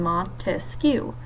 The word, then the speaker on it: Montesquieu: branches of government because there are three syllables in Montesquieu three branches of government